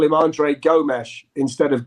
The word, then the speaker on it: Gomes: you call him andre gomes instead of gomez well they would pronounce the s with a sh in portugal so we would say gomesh but if if we